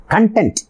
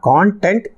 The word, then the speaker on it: content: நாட் கான்டென்ட், கண்டென்ட்.